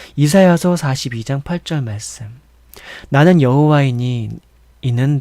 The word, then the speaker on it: 야훼: 이를 행하는 여호와, 그것을 만들어 성취하시는 여호와, 그의 이름을 여호와라 하는 이가 이와 같이 이르시도다. 뭐라고요? 이를 행하시는, 이제 다르게 또 다른 발음으로 또 알려드릴게요. 이를 행하시는 야훼, 그것을 만들어 성취하시는 야훼,